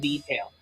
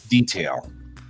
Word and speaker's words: detail: they'll go detail so the emphasis is on the first syllable and in American English it tends to be on the second syllable either one of those